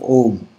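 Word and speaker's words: ॐ: makes the bumblebe so that M sound is the last syllable of om om last so what we do is shut our eyes close our ears and make the sound start with om but give more stress on the M om this called the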